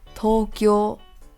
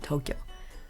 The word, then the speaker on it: Tokyo: of them is Tokyo a common mispronunciation of the city is that you sound the O's short is that people sound the O's short but that's actually not the case you want to elongate every single o is that is